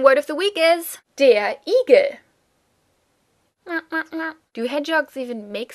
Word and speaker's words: Igel: Your random word of the week is der Igel. Do hedgehogs even make sounds? Do not confuse this with eagle, which of course just sounds as if you pronounced eagle with an American accent, but, it's a completely different animal.